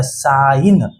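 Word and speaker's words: sign: का उच्चारण न तो ये क्या हो गया साइन यहां पे जी क्या हो गया साइलेंट बीच से गायब वैसे ही जी एन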